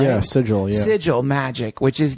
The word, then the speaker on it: sigil: Yeah, sigil, yeah.